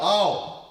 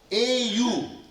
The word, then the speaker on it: au: The first line, O ke au, au. A-U, a-u, au. One syllable, 2 letters, and a whole lot of meanings.